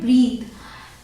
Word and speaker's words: breathe: तो ये है BREATHE, इसे प्रोनाउंस करते हैं ब्रीथ। एक होता है BREATH, वो होता है ब्रेथ।